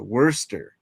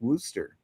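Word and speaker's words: Worcestershire: Uh I thought it was uh worester.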